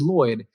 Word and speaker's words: Lloyed: this e in my name because nobody can pronounce it and it is Lloyd and she's like I always wanted you to